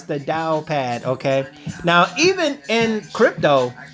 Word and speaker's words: TaoPad: it right here you can go to the towel pad excuse me the Dow pad I've been hanging around too many you guys actually said time but uh no it's the Dow pad okay now even in crypto there's things known